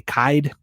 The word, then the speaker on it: Kyed: per at Doug uh his last name rhymes with died so it's going to be kaid kaid I'm so sorry uh